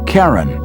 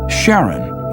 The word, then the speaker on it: Charon: christie suggested the name karen after the ferryman of Pluto's underworld in greek mythology but preferred to pronounce it sharon more like his wife's name charlene from the motions of